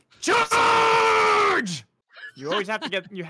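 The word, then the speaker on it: CHAAAAAAARGE!!!: It's charge.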